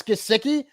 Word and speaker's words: Gesicki: So the emphasis was in the wrong syllable. So yeah. So for me, it's Gesicki.